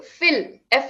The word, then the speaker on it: fill: Feel and fill different. Feel, Feel, fill, Fill. fill, yeah, fill.